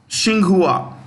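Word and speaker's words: Tsinghua: you know third place shinghua starts with T I repeat t s h i n g u a shinghua university okay yeah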